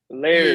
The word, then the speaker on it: Laird: How you say his name? Lard. Oh, Patrick Laird. Laird. Yeah. There you go.